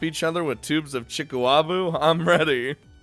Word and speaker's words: chikuwabu: Chikuwabu. What? Is that the one where you slap each other with tubes of chikuabu?